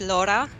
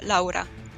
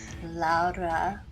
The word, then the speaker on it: Laura: it sounded so pretty so in English you say it Laura but in my language it's Laura it's a bit different Laura that's so pretty but